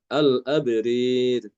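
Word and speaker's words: الأبرار: Al-abrari dibacanya al-abrir. Jangan lupa rohnya dibaca tipis ya, yang roh yang kedua itu. Kalau Kalau fathah itu kan dibaca tebal. Al-abror. Tapi ketika dalam keadaan imalah maka dibaca tipis. Al-abrir.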